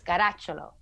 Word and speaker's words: Caracciolo: Alessia If you want to say it the real Italian way, it's Caracciolo.